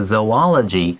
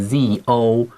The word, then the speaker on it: zoology: 没错，老师刚刚提到这个 zoology，它的拼法是 Z-O-O-L-O-G-Y，后面的 ology 往往是学科的意思，然后前面的话是 Z-O 嘛，然后配上那个前面的 O。都有点像 zoo 的感觉，所以有些人会把它念成 zoology，但是我听老师念 zoology，从此以后我就记得会念 zoology，但是你会听到有人念 zoology，